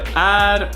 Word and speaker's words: är: We have är, which means is, and that's mostly pronounced e or ä.